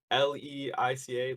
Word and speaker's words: Leica: get into that the how do you say l-e-i-c-a let's like I don't like oh yeah yeah